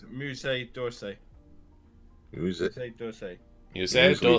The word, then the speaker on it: Musée d'Orsay: How do you spell it? Musseedorsay. Jeff, if you would be so kind. It's Musée d'Orsay.